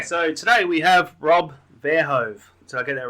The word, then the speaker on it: Verhoeve: Okay, so today we have Rob Verhoeve. Did I get that right, Rob? I think you butchered it. But that's I okay. butchered it. Verhoeve.